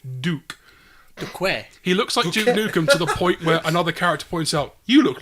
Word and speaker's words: Duque: There's a character called Duke who looks like Duke Nukem, and they call him Duke, but they spell it with a Q-U-E instead of a K-E. So it's D-U-Q-U-E, Duke.